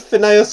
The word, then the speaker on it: Phineas: no, this is like an episode of Phineas and Ferb.